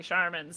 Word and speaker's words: Scharmyn: And then Charmin toilet paper commercial came on, and he was like, "I could spell that a little differently. It's actually a cool word." And now I'm Charmin.